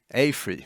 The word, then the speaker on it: AFRY: AFRY, thank you.